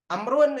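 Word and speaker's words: عمرو: Tapi kalau ain mim ro wawu Amrun itu.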